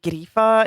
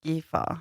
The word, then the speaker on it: Gifa: episode I don't remember her name isn't gria it's GFA yeah we added an r and we're sorry for